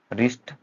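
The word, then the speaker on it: wrist: डब्ल्यू कब silent हो जाता है, जब किसी वर्ड की स्टार्टिंग होगी और उसके बाद जो है आर आ रहा होगा तो भी वो साइलेंट हो जाता है। जैसे कि रॉन्ग, रिस्ट, रैप, रैक।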